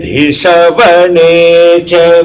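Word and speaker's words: adhiṣavaṇaśca: The next one is Adhishavanechha me. But the A is not pronounced. It's mixed with the previous mantra. Uparavascha me dhishavanechha me.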